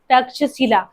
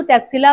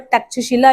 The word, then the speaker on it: तक्षशिला: जो ब्रिटिशर्स थे वो इसे इस तरीके से प्रोनाउंस करते थे तो इसको तैक्सशिला बोल सकते हो बट तक्षशिला भी हम इसे बोलते हैं और आज के टाइम